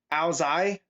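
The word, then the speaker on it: áo dài: But it's pronounced apparently Ao Zai, and it's Vietnamese.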